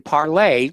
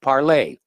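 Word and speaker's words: Parler: uh free speech application parlay i know a lot of people call it parlor because of the way it's spelled but it's the french pronunciation the word means speak parlay okay parlez-vous francais for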